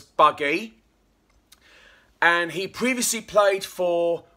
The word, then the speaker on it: Bugg: The newest signing for Witham Town player we got is a prolific striker, George Bugg, which we pronounce as Buggy.